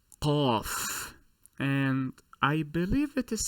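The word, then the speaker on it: قاف: I am sorry, Qaf, Qaf.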